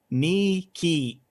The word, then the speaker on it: Nike: classical era uh and is now pronounced a bit like nee key end of le cadobili